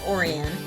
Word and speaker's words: Orion: Either way, it's pronounced Orion because it just sounded right, poetic, and almost magical.